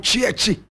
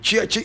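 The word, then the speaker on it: Tsietsi: So he was simply called Chiechi in the area. And Chiechi is spelled T-S-I-E, T-S-I, Chiechi.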